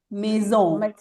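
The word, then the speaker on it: maison: Acuérdate que la combinación, la a en francés suena como nuestra e española. Está bien. Entonces, bien, perfecto. Muy bien. Mesón, mesón. Acuérdense que la s como tiene una sola s suena como un mosquito.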